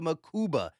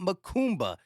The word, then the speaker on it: Mukuba: I've been saying Andrew Makuba, not Makumba.